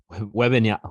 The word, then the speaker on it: Wembanyama: what your guys' predictions are for Wembanyama's or Wembanyama.